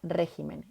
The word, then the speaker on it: régimen: encanta esta lista porque estas palabras son las únicas palabras del español que estando en plural van a cambiar el lugar de su sílaba tónica en singular carácter en plural caracteres en singular espécimen en plural especímenes en singular régimen en plural regímenes bien lo voy a